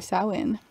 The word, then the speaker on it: Samhain: see yeah we're basically celebrating samhain exactly that's not spelled like that at all i know um so